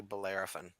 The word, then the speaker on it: Bellerophon: that uses venomous spines for defense it's actually bellerophon is that how you pronounce it yeah hilarious you got it so